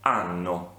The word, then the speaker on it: hanno: Io ho, tu hai, lui, lei ha, noi abbiamo, voi avete, loro hanno. Ricordatevi che la lettera H all'inizio del verbo non si pronuncia, è una lettera muta.